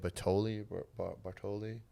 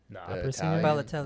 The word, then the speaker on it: Balotelli: Like if you're darker, like wherever you go, and they had like wasn't how you say it, Bartoli. Balotelli.